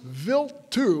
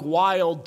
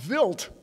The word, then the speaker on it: Wild: the Stardust mission traveled out to the comet built - it looks like wild - but it has nothing to do with our hockey team it's actually pronounced built to like a VI LT because it's a